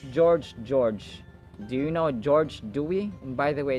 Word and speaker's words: Dewey: Do you know George Doy By the way it's Doy not dewi for American pronunciation do we do you